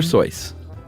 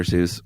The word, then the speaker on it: Seuss: um we are talking we keep saying Dr soyce everybody knows him as Dr Seuss but apparently the correct pronunciation is